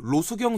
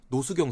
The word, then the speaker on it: 로수경: 네, 특히나 그 득점력이 북한에 지금 로수경 선수라고 있습니다. 네. 우리 발음으로는 노수경 선수.